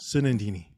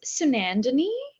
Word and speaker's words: Sunandini: who's a all right sunindini well my name is if you're brown that's how it's pronounced if you're not then it's sunandini um depending on your